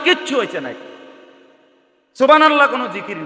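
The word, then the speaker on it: سبحان الله: তো সুবহানাল্লাহ কইয়া যে থামিয়া গেলেন, তো লামের মধ্যে থামিয়া গেছেন, তো আল্লাহ শেষে যে আরেকটা গোল হা আছে, এটা কই? সুবহানাল্লাহ সুবহানাল্লাহ সুবহানাল্লাহ, তো হা উচ্চারণ কই? শেষের হাটা কই?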